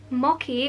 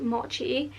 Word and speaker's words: mochi: you know guys i forgot to mention the moki which is actually pronounced mochi is um vegan vegetarian and halal friendly and